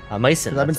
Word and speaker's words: Mycin: but medicine isn't medicine Mason I pronounce its Mason I've been saying it Mays don't worry sorry we're